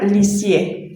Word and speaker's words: Lisieux: a un pueblo llamado Lisieux, se pronuncia Lisier.